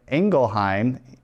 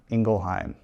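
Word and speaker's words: Ingelheim: Uh there are missionaries here in Engleheim. Ingleheim. Yep. That's right. Engle. Okay. I'm still learning on how to pronounce things here.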